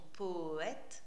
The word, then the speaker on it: poète: Nous, quand nous parlons, nous prononçons poète en deux syllabes. Ici, il faudra prononcer en 3 parce que le E n'est pas muet puisqu'il est suivi par une consonne. Et donc là, Corbière nous oblige à prononcer poète enfin nos 2 premières syllabes de poète en une seule syllabe, ce qui fait poète. Comme si on faisait poète poète.